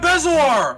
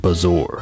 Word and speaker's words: bezoar: I got a bezoar! I don't know how you're supposed to pronounce that word, but I'm almost certain it's